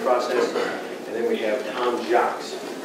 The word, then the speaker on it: Jocz: And then we have Jocz, right? And Jocz? Close. Close. Just like it's spelled. Jocz. J-O-C-Z.